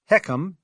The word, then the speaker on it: HECM: home equity conversion mortgage or HCM pronounced heckum in my world has a ton